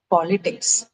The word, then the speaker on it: politics: For politics, the uh stress is on the first syllable. It's politics or politics. Okay. Uh also because of its Latin Greek origin.